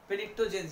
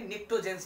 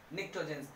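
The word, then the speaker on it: Pnictogens: तो poison, that's why इट is this group, यानी group number 15 को हम पेनिक्टोजेंस यानी निक्टोजेंस बोलते हैं, पी साइलेंट होता है, निक्टोजेंस।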